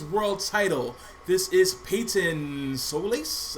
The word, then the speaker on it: Solaire: This is Payton Solaire. Is that how you pronounce it? Solaire? It's Solaire.